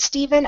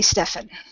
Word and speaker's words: Stephen: want to mention Stephen sometimes people spell their name that way and say it Stephen other times they say Stefan I've heard it pronounced both ways but spelled the same there's another spelling for